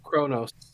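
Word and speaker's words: Qo'noS: It's generally Q apostrophe O-N-O-S, Kronos. But they generally pronounce it Kronos. Nobody's ever explained why.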